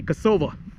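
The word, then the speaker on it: Косава: I finally arrived at Kosava. As some of the locals say, Kosova.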